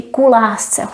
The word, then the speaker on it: ku lásce: If we didn't have u, we would just say klásce. We would pronounce it as one word. But here we say ku lásce, so we don't lose the rhythm.